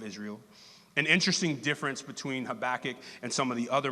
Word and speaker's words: Habakkuk: going over today is very familiar with often pronounced have a cook as I pronounced it when I first ever saw it is actually pronounced habakkuk he's the writer he's a prophet the minor